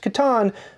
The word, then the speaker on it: Catan: an expansion for katan which is correctly pronounced katan but i'm on a diet